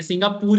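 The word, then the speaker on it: Singapore: किसका बात कर रहे सिंगापुर ि पूर मत बोलो क्या बोलो आ आर साइलेंट तब जाके ऐसा कुछ भी नहीं है ये सिंगापुर है वही वही क्या सिंगापुर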